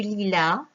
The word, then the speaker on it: lilas: Du lilas, S. On ne prononce pas le S.